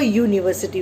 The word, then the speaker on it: university: university, it is a university. Why a? Because when you pronounce university, the sound of U, okay, Y comes first, okay, and Y is a consonant.